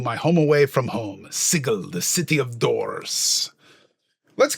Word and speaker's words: Sigil: name of a city, Sigil. Did he pronounce that wrong? No, I didn't. Technically, the city is pronounced Sigil, but however you want to pronounce it in your world, it's fine.